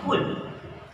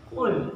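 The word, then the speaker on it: قل: kul KL ba ya Jadi bukan kul KL KL KL KL bukan kul bukan Kaf tapi Q Qul quul yang hati-hati di sini kul ya suka banyak yang mengatakan kle jadi diqqolahkan padahal itu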